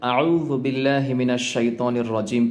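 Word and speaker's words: أعوذ بالله من الشيطان الرجيم: করে উচ্চারণ করতে চান তাহলে এই জালটাকে চিকন করতে হলে আপনার সাউন্ডটাকে চিকন করতে হবে কিভাবে দেখুন আউজুবিল্লাহি মিনাশ শাইতানির রাজিম আউজুবিল্লাহ আরেকটি বিষয় আমরা অনেকে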